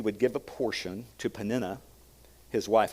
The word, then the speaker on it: Peninnah: give a portion to Peninnah, his wife. I heard this pronounced many Peninnah, many Peninnah, different ways. Peninnah, since I pronounce it that way, is the right way.